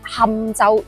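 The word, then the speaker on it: 钦州: 其實將呢個字讀成堪係嚟自古音嘅去金切，係啱嘅，唔好笑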